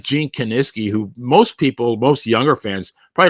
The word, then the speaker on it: Kiniski: Reading the wrestling magazines, it took me a long time to pronounce Gene Kiniski. I used to say Kiniski, Kaczynski. I always still say Kiniski. Maybe I. Well, I couldn't pronounce unequivocally either. So a couple of minutes ago, so you guys don't call him Kaczynski, right?